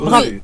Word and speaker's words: Rezé: Alors, Rezé, déjà le prononcer. Oui, Rezé.